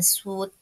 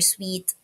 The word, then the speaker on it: suite: So 'yung SAP, okay, SAP, Oracle, ebis na suit or suite ang pronunciation either of the two.